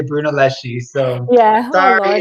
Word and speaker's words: Brunelleschi: dome blank by Filippo Brunelleschi. Oh my God, I can never pronounce these names. I know my. I think in Italian, don't they say Brunelleschi? But in America, in English, we say Brunelleschi.